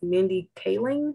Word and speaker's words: Mindy Kaling: it on the screen but i think it's mindy kaling is how you pronounce it everybody knows her from the office